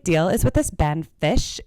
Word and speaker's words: Phish: what the big deal is with this band Phish? It's called Phish, but it's spelled Phish, and it's a band.